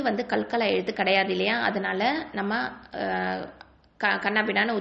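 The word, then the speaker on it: ت: அதனால நம்ம கண்ணாபின்னான்னு உச்சரிச்சிடக்கூடாது, கல்கலா எழுத்து மாதிரி உச்சரிச்சிடக்கூடாது. ஓகேவா? ஸோ இது எப்படி உச்சரிக்கணும்? அத், இத், உத் அப்படி தான் உச்சரிக்கணும்.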